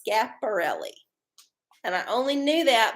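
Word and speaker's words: Schiaparelli: pulled a card and i said it was chaparrally no it's pronounced scaporelli and i only knew that because i found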